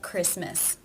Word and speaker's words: Christmas: There are some words that are just written with a silent T. For example, Christmas, whistle, mortgage. These unfortunately just need to be learned.